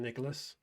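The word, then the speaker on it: Nicolás: Nicolas, that's how you say it. I'm going to bring in Nicolas.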